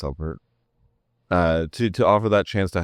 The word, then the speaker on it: SUBvert: It is actually pronounced SUBvert.